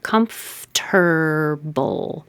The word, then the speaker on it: comfortable: Comfortable. Comfortable. This could be ra or re. It doesn't matter because it's not stressed. It will most likely change to ra.